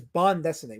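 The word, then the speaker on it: bande dessinée: bankro said it's closer to bond decimate. So there you go. Bond. So folks, the proper pronunciation is bond destinate which is which is uh uh French for uh comic strip. So bond is French for comic strip.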